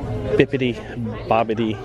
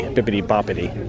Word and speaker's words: Bibbidi Bobbidi: fret Halloween store yet bibbidi bobbidi boutique is that how you say it I always say it with a P bippity Boppity $7.99 you have plenty of